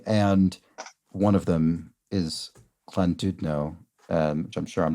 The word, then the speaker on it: Llandudno: And one of them is Llandudno, which I'm sure I'm not pronouncing brilliantly, but You are. It's Llandudno. Llandudno.